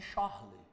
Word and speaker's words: Charles: conhecida como equação de Charlei ó equação de porque ele era francês e no francês nós não pronunciamos o s no final por exemplo aquelas bolsas